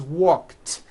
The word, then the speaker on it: walked: unvoiced K sound at the end walk becomes walked yesterday I walked here's the second rule if